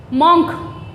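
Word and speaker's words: monk: बोलते आए हैं हम, मोंक, मोंक ही तो बोला जाता है, यही वर्ड यूज़ करते हैं मोंक, लेकिन ये मोंक नहीं होता, इसका जो प्रोनाउंसिएशन है, इसका जो प्रोनाउंस है वो है मंक, मंक।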